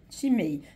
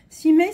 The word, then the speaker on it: cima: Chimay. Chimay, ça s'écrit C-I-M-A.